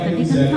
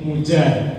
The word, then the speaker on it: Muzar: Karena Bapak Ibu sekalian, nama saya Muzar, biasa dipanggilnya. Karena Muzar itu kalau di Indonesia saya itu sering salah sebut ejaannya itu Bapak Ibu. Muzar itu kadang menjadi pakai jet Mujar.